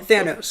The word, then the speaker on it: Thanos: Am I saying his name wrong? Thanos, that's right.